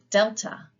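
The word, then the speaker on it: δέλτα: Delta, D, as in dog.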